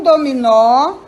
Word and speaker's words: dominó: Dominó. O nó é mais forte.